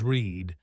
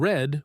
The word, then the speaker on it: read: It's spelled identically in both present and past tense, but the pronunciation changes read when it's present tense and read when it's past tense.